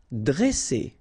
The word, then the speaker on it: dresser: ne, étonner, dresser, okay, same thing here, vowel, vowel, double S, so you pronounce it really strong like S, okay? Dresser. And then when you get a double consonant after a E, you open the sound of the E, so it will be like E, dre, dresser.